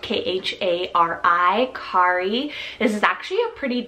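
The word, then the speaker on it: Khari: woods we have the name Kari spelled k-h-a-r-i Kari this is actually a pretty gender neutral name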